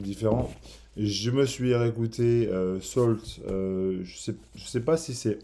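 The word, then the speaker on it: Sault: Alors, ça s'écrit S-A-U-L-T, Salt, si vous avez jamais entendu parler du groupe.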